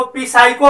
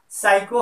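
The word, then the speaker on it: psycho: कुछ बच्चे इसको पिसाइको पढ़ देते हैं, जो कि गलत उच्चारण है। जब पी के साथ जब एस का प्रयोग होता है तो वहां पी एस यहाँ पर पी साइलेंट हो जाता है, यानी पिसाइको नहीं हो करके क्या हो जाएगा? साइको हो जाएगा, और साइको का अर्थ होता है मन।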